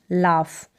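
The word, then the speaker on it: laugh: जब भी लाफ की स्पेलिंग लिखें तो LA हो गया, फिर UGH, लाफ। यानी फ का उच्चारण हो रहा है, ये GH के लिए यहाँ पर फ हम प्रोनाउंस कर रहे हैं, लाफ। तो AUGH, इसी तरीके से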